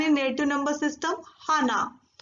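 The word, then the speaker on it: 하나: Hana.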